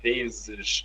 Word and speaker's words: vezes: When a Z is between vowels, it sounds like Z.